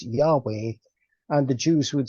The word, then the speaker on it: Yahweh: book of Exodus, obviously Jehovah is the anglicized or anglophile pronunciation of of Yahweh, and Ah, Yahweh yes. is the Hebrew pronunciation of the Tetragrammaton, or HWH in the Latin alphabet.